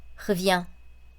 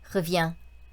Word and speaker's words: revient: 그래서 노래할 때 이렇게 편한 발음으로 르와 흐를 혼용해서 쓰시면 되겠다, 적절하게. 그렇게 보시면 되겠습니다. 보시면 revient, revient, revient, revient.